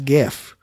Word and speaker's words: GIF: point one one point 21 gigawatts it's actually pronounced giggle yeah i know i it's like saying jiff instead of gif and i'm sorry people out there i know our audience is divided on this it's gif graphics graphics interchange format i don't care what